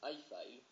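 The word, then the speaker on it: iFile: génial vous allez chercher i file i f i l voilà comme ça se prononce vous allez cliquer en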